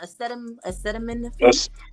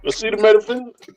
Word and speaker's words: acetaminophen: Acetaminophen. Oh, not no you got cinnamon. close. That's it. Acetaminophen.